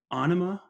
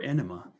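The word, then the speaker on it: Ænima: So moving on to 96, we have our first appearance by Tool with Anima or Enema. I think both ways, just because of how it's spelled, Aenima. So both pronunciations are correct.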